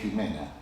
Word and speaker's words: Jimena: con el nombre Jimena que se escribe con X o con J, pero siempre es Jimena.